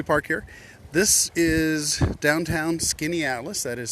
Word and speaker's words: Skaneateles: there's a lovely park here this is downtown skinny Atlas that is spelled s k a n a t l